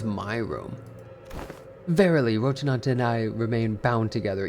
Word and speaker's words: Rocinante: Scuffed as they may appear, Rocinante is in pristine condition.